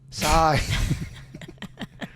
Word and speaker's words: Sy: How do you spell that? S-Y. Sai.